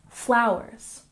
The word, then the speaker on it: flowers: And flowers has emphasis on the first syllable. Flowers, flowers.